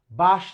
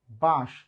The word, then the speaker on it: বাঁশ: ঠিক তেমনি বাঁশ না, বাঁশ, বাঁশ।